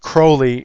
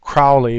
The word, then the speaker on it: Crowley: his name actually pronounced Crowley instead of Crowley because he wanted to rhyme with holy, and I don't want to do that. I'll call him Crowley in this case.